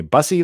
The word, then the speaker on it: Bussy: I wasn't sure and she told me bussy like fussy so there you go